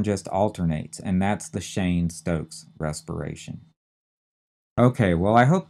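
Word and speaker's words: Cheyne-Stokes: we have one more term and that is Shane Stokes respiration Shane is c h e y NE e hyphen sto s t o k s Shane Stokes and then respiration r s p i r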